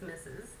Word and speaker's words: Mrs: the old form of misses that's how it's pronounced as misses um used it comes from the word mistress